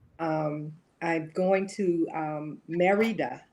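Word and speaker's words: Mérida: i'm going to um merida i'm going to say it the english way but it's marita mexico and but it's spelled morita it does not get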